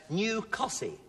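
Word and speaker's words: Costessey: Mother, first of all, Margaret, you're from New Cossey. Yes. Is that the way you pronounce that?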